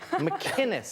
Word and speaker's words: McInnes: McInnes, it's a hard C.